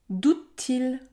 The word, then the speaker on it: doute-t-il: long 43 chante-t-elle chante-t-elle doute-t-il doute-t-i pour rappel on ne prononce pas le E à la fin des mots c'est pour cela que nous avons deux t côte à côte doute-t-i une robe bleue